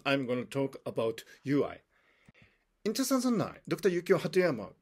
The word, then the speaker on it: Yuai: stressed the importance of ui today ui is a thriving movement in japan and the movement is dedicated to the promotion of fraternity and peace now ui is spelled you i but it's also spelled